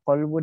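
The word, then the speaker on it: قلب: Jadi hati-hati bedakan antara kolbu dengan kalbu. Coba bayangkan beda kof dengan kaf. Kolbu itu hati atau ya hati. Kolbun hati. Kalau kalbu itu anjing.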